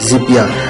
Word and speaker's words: Zapya: आपने जस्ट ये स्पेलिंग देख रहे होंगे आप, ZAPYA ज़िपिया। आपने अपने गूगल में जाके